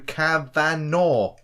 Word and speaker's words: Kavanagh: By the way, you keep saying my name wrong. It's Kavanagh. Thanks, boys. Kavanagh.